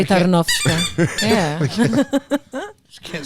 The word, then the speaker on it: Tarnowska: Tarnowska.